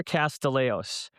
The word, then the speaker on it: Castillejos: My name is Castileos and I say it like I'm from Fidley.